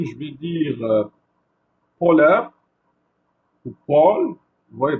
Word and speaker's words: pôle: Et lorsque je vais dire polaire ou pôle, vous voyez, donc pôle, je suis en train de prolonger la lettre O dans le mot pôle. Alors que dans le mot polaire, c'est bref.